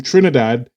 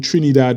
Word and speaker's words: Trinidad: even pronounce Trinidad properly Trinidad or some rubbish at most Brits tend to who know nothing about Trinidad pronounces Trinidad Trinidad he kept annoyed me